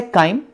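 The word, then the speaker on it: chyme: अगला वर्ड है काइम, ये ऐसे प्रोनाउंसिएट करेंगे आप, काइम, और ये वर्ड आया है ग्रीक वर्ड से, ग्रीक वर्ड का देखिए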